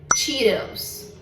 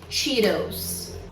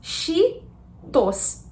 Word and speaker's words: Cheetos: A pronúncia dessa snack aqui é Cheetos. Cheetos. O CH em inglês, ele normalmente tem som de tch.